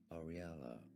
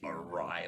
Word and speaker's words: Ariela: Is how it's said in Italian. In English, it's often pronounced as Ariella. Ariella. Ariella. Now you pronounce it Ariella. I'm stupid. I should have figured that. What did I say? Arila.